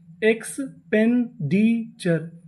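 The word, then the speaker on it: expenditure: अगर आपको इंग्लिश में कहीं पर TURE लिखा मिले तो हम लोग TURE को पढ़ते हैं चर, इसे हम लोग टुरे नहीं पढ़ते।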